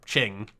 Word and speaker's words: Qing: once I become king that'll become my or Ching you know what when I'm refering to the